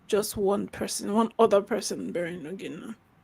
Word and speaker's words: Ogenna: Oh, did I pronounce that correctly? Ogenna.